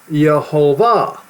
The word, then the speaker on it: Yhovah: name, not the Lord, but Yhovah, not with a J, though. You're not supposed to use the J sound with it. As you see right here, I'm showing to you to you the proper way to say it.